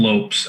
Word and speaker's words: Lopes: I feel like it's got to be Lopez. Tim Lopes, I believe it is.